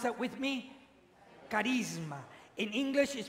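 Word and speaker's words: χάρισμα: used for gifts with these special gifts is pronounced Charisma would you pronounce that with me Charisma in English is pronounced charism and what is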